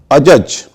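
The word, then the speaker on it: adjudge: अजज, अजज का मतलब होता है न्यायपूर्ण फैसला करना। अजंक्ट होता है जोड़, उसमें भी डी और जे है लेकिन उच्चारण नहीं है।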